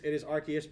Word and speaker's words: Arceus: It is Arceus because it's named after the Pokemon Arceus.